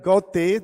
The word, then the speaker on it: Goethe: Goethe, it's also said Goethe, the pronunciation varies, has said, architecture is frozen music.